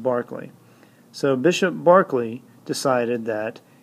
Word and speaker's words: Berkeley: named Bishop George Barkley I know it looks like Berkeley but it's pronounced Barkley so Bishop Barkley decided